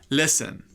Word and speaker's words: listen: and listen listen listen the T is silent of course let's give you some